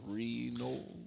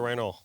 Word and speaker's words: Randall: my god sorry heather i can't say your last name correctly renault heather randall there you go he said it right ash what where the